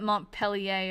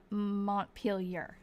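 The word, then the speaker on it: Montpelier: It's I I know it's I know that Mont Pelleier is wrong.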